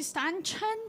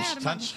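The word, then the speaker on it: Ständchen: E ela chama-se Standhahn. Como é, Standhahn. Standhahn. Standhahn. Standhahn. Standhahn. Standhahn. Cada um fala. A minha pronúncia é um pouco mais americanizada, que é Standhahn. Mas Standhahn, em alemão, Standhahn, enfim.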